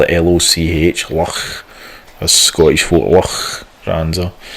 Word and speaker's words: Loch: It's got if you look at if you type in pictures for Loch Ness Castle, you need to spell it Loch. Loch, as Scottish folk, Loch Ness.